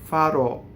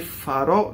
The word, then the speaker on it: farò: So che farò, not che farò, right? And O at the end, it's open O.